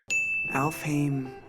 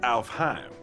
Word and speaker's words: Alfheim: Alfame online. Uh, actually it's pronounced Alfheim.